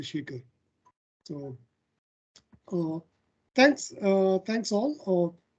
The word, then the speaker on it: Sekar: don't use h but we call it as a we spell it as a without h but pronouns with h so all my friends uh who who are from abroad if they struggle to pronounce my name i ask them to remember the milkshake so that's a shake the shaker so thanks uh thanks